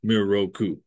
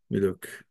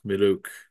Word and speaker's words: Miroku: Now, in Japanese, you don't really say Miroku, right? The R is different. It's more like most of the Japanese speakers I know who have asked, how do I pronounce my name? They're more like Miluk. It's not Miroku, it's Miluk, something like that, which I don't really say exactly right.